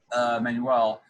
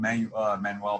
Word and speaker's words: Manuel: the way my professor Manuel, I know I call him Manuel because of the way his name looks, but he pronounces as like Manuel, like how you would say manual, like a car manual.